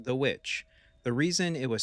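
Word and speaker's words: The VVitch: Although some people were confused by its spelling, Vvitch, it is pronounced The Witch.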